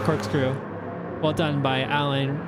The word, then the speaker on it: Alain: inside of the cork screw Well Done by Allan right there I always switch between Allan and alen I need to pick one I'm going to say alen cuz that's the correct pronunciation they said it was alen Al Prost